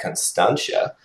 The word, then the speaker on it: Constantia: to Cape Town then and let's check out Constantia um did I pronounce that right Fiona yeah absolutely getting better